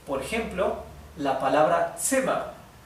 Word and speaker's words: Zimmer: La Z en alemán siempre se pronuncia ts. Por ejemplo, la palabra Zimmer. Zimmer significa habitación.